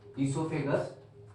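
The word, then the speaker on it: oesophagus: ये रहा माउथ, मैं अलग कलर यूज करता हूँ, माउथ, ये रहा माउथ, ये रहा ईसोफेगस। ईसोफेगस में ओ जो होता है साइलेंट होता है, वो याद रखेंगे, ठीक है।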